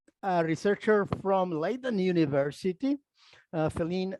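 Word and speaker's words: Felienne: More recently, a researcher from Leiden University, Feline Hermans, or Feline, I think it's pronounced, he has come with this idea of the gradual languages.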